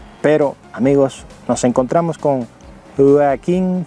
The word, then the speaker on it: Joaquin: amigos nos encontramos con joaquin phoenix como dicen ellos porque no pueden pronunciar la jota no tienen ese sonido dicen aquí en phoenix por joker a la